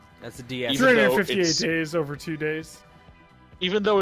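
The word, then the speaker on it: 358/2 Days: 358 days over 2 days. Even though it's spelled Kingdom Hearts 358 divided by 2 days.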